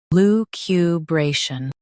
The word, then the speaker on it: lucubration: Emphasize bray and keep lu light.